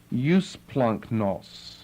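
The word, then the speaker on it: εὔσπλαγχνος: E-U-S-P-L-A-G-C-H-N-O-S, although it doesn't exactly lend itself to that pronunciation. When you have your G and your CH together, you end up with an NK sound, or double G together,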